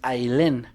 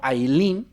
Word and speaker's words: Ailén: esté pronunciando bien, porque me parece que es Ailén, no Ailín, porque Ailín creo que es con doble E. Esta venía con una sola E.